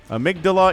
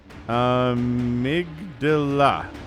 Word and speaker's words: Amygdala: I learned about it in high school, so I know how to pronounce it. Amygdala indeed.